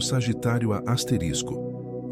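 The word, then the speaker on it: Sagitário A*: Nosso buraco negro central é chamado Sagitário à Estrela, pronunciado como Sagitário a asterisco.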